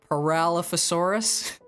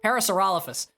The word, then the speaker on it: Parasaurolophus: and the Parasaurolophus uh I said that wrong parallelophosaurus I know Parasaurolophus unless I'm pronounced Parasaurolophus Parasaurolophus that's the pronunciation thank you brain took